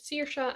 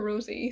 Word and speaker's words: Saoirse: So, your main characters, Saoirse and Ruby. Yes, I got her name wrong in one of my videos. I kept calling her Rosie, so I'm scared now.